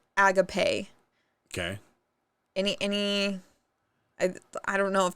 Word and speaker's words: agape: This one's spelled like agape, but it's pronounced agape.